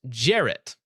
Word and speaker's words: Jarrett: Jarrett says it's pronounced Jarrett over on Rumble.